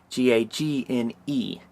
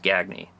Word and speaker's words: Gagne: Go to @flockgoods on Instagram, and if you want to see his personal deal, it's at Matt Gagne, Gagne. Not pronounced Gagne.